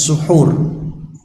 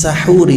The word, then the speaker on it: sahuri: Ini tidak bisa disebut, tidak bisa dibaca fa inna fis suhur. Tapi bacanya fa inna fis sahuri barakah.